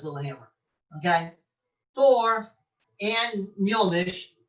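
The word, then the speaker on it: Mjölnir: Thor and Mjolnir, because that's how you pronounce it in Icelandic, not Mjolnir, Mjolnir.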